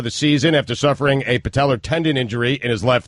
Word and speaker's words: patella: Patellar. It's just an A at the end.